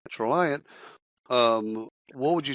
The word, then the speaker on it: Traliant: What is rhymes with compliant, Traliant?